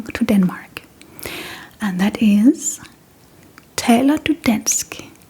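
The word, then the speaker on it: taler: lot when coming to Denmark, and that is Taylor. Taylor and this means do you speak Danish?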